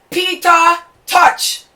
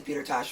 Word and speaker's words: Peter Tosh: Number 5, Peter Tosh. Well, that's how people say his name, but it's actually Peter Tosh, right?